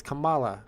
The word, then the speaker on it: Kamala: hope not come come on man with the pronunciations what's up C spill Kamala Kamala it's Kamala the Ugandan Giant I don't care what anybody